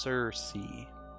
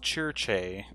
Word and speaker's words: Circe: It's pronounced Circe. Gotcha. Well, if they were Italian... it would be pronounced Cherche.